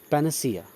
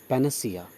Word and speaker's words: panacea: Next word is पैनासिया। हाँ, इसका correct pronunciation है पैनासिया। अन साउंड के बाद अ साउंड आएगा, पैनसिया नहीं पढ़ेंगे, पैनासिया, राइट?